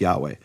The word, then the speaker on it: Yahweh: years by the Christians, is it Yehovah, which the Jews seem to think it is, or is it Yahweh? And then Gesenius ends the discussion, it's Yahweh.